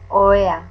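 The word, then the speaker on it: ohea: Oea, singular, oea, oea, oea. The H is mute, so you don't pronounce it.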